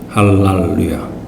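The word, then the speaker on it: הללויה: 할랄루야라고 합니다. 할랄루야. 그래서 이게 이제 영어로는 할렐루야가 됐는데요. 비슷하죠, 발음이.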